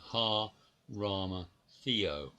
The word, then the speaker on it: Arimathea: But Arimathea, the word Arimathea should have been pronounced Ha-Rama-Theo.